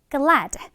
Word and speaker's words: glad: 자, 지금 끝에 드 발음이 살짝 약하게 되는 거 느꼈지, 얘들아? 영어에서는 이렇게 끝에 드가 나오는 거는 그렇게 세게 발음을 해주지 않고 살짝 얘가 있어 정도의 느낌으로만 발음을 해주면 돼요.